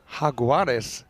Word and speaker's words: jaguar: looked up in Spanish how you say jaguar and as I thought it is the kind of the same spelling with different pronunciation so the hagars or lost uh hagues yeah cuz the JS you know yeah it's more the H yeah hagu it sounds